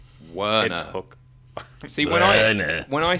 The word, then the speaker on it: Werner: Werner. It took... See, when I say it, you can really hear the pronunciation.